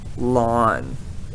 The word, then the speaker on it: ln: e or log base 2.718 and so we pronounce it lawn a and remember this is the natural or